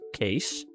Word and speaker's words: Kees: Nowadays, it's I guess kind of rare, but it used to be super common name and it's Kees. Uh k e e s. That's that's just how we pronounce that.